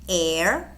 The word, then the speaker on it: heir: We also have a lot of words which are which contain the letter H, but in which the H is silent. Heir, like the heir of the throne, heir.